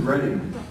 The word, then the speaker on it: Retyi: Retyi? Richard Retyi, like Yeti. But he's here. You don't have to just wonder if he's here. He's here. Yeah, Richard. Have you ever heard that joke before? Yeah. Retyi like Yeti.